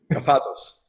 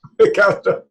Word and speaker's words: Kafatos: Kafatos. Kafatos.